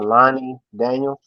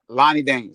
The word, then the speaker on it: Lani Daniels: I keep I keep forgetting how to pronounce that lady's name. Uh Lonnie Daniels. Lonnie Daniels.